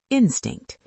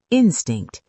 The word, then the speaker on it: instinct: The first word is instinct. Instinct. Instinct. 2 syllables. Stress on the first.